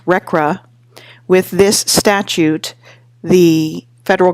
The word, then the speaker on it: RCRA: Congress adopted the Resource Conservation and Recovery Act, which is pronounced RCRA.